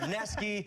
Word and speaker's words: Wisniewski: Wisniewski, it's spelled Newski, but he's corrected me 4 times. Neski, you want my job.